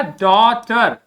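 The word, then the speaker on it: daughter: GH को मैंने बताया है कोई प्रोनाउंस नहीं करते हैं, क्या हो जाएगा? टर, ये हो गया डॉटर, डॉटर, डॉटर, ठीक है।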